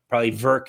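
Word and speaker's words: Werk: If you want to go to it, it is taking place in the Verk, it's pronounced, arena in Třinec, Czech Republic.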